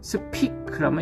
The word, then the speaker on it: 스피클: 그래서 이제 이 경우에 있어서 마크웨이가 집중했던 건 스페클, 이게 스페클 해가지고 파열은 팍 터지는 발음이죠. 스피클하면 이거 뭔가 새는 발음이죠. 그래서 하나는 터지는 발음, 하나는 새는 발음.